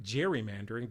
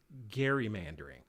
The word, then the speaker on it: gerrymandering: we call gerrymandering and gerrymandering is pronounced like the name gary but it's spelled g-e-r-r-y so it's looks like gerrymandering but it's actually gerrymandering so what happens here